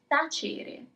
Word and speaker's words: tacere: And our final word, tacere.